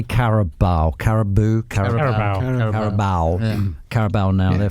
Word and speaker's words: Carabao: Carabao.